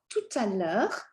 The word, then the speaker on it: tout à l'heure: On se voit tout à l'heure. Tout à l'heure. you're going to connect this T because of the vowel sound following.